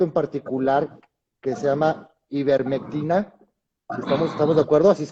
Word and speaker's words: ivermectina: Hay un medicamento en particular que se llama ivermectina. ¿Estamos de acuerdo? ¿Así es como se pronuncia, doctor?